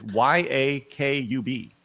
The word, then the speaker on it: Yakub: It's pronounced like like you'd think. It's y a k u b.